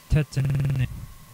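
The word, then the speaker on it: Tatenen: he quickly absorbs the appearance of sakar and tetan sakar spelled s o k a r capital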